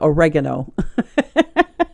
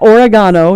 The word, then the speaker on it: oregano: Italian stuff oregana yeah oregano so it's not origano it's not like Oregon with an with a o at the end it's not oregano